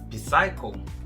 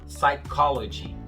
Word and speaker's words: psychology: Como é que você pronuncia? Psycho? Negativo, tá errado. Esse P é mudo. Psicologia em inglês se fala psychology. Esse H aí também é mudo, né?